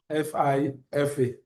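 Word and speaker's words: fi. fa.: Let's pronounce it F I F A uh FIFA as it were and it is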